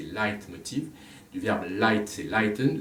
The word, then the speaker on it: Leitmotiv: Et Wagner emploie le terme de leitmotiv, on prononce en français leitmotiv, mais c'est leitmotiv.